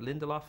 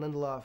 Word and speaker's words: Lindelof: show that you co-created with, is it David Lindelof? Is that how you pronounce it? Damon Lindelof, yeah.